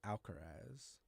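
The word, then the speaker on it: Alcaraz: Alcarez. I pronounced that right. Right. Yeah, that was that was good. Carlos Alcarez hasn't played in a while.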